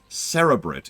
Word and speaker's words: cerebrate: birth a new cere cerebrate I keep saying it wrong CIT it's cerebrate it could Booth beran new cerebrate in order to take